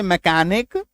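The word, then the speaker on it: mechanic: एकको ओ आर सी एच आई D orchid orchid क टी एच O coarse M ई सी एच ए मैकेनिक orchestra है ना ये सारे क्या हैं?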